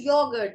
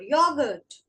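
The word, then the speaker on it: Joghurt: Next is yogurt, which is Der Yogurt. Der Yogurt. J is pronounced as Y in German. This is yogurt.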